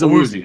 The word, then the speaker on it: Awuzie: It is Awuzie. Okay. I've heard so many people pronounce that so differently.